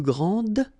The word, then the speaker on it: grand: Okay, so phonetically what you can hear is that this first form here for the masculine, grand, so you don't pronounce the final D, will be exactly the same as the plural form for the masculine, grand.